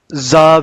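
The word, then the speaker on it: ز: For the pronunciation of Za, we will touch up and down teeth together, and then we will touch the tip of our tongue behind the up and down teeth.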